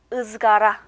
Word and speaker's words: ızgara: 으 모음과 똑같고 역시 읽는 건 역시 으라고 읽히죠. 그래서 예시 단어 보시면 석쇠라는 단어 가져왔죠. 석쇠는 터키어로 ızgara 이렇게 읽어주시면 됩니다.